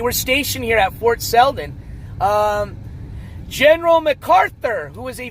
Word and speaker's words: Selden: Selden is spelled S-E-L-D-E-N.